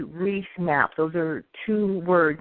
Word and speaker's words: Reis: And this has come to be known as the Piri Reis map.